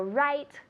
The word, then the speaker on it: write: So it's the same pronunciation, but careful, it's different spelling. It's a W.